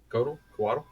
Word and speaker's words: Coatl: Is that how you pronounce that? Coatl? It is. Coatl.